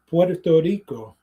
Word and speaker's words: Puerto Rico: is different like the pronunciation very much like like saying you know Puerto Rico like is Puerto Rico right it's with a L right um other Spanish speakers they they roll the R like we were they